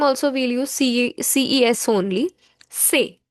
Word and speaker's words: ces: Say. CES is pronounced as say.